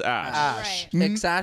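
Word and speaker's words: Æ: forgot what a e um is pronounced it's pronounced ash 12.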